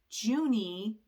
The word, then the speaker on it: Juni: over here she wrote Juni I'm pronouncing that I guess the way that it is in German which means the month of June and the year was 1932.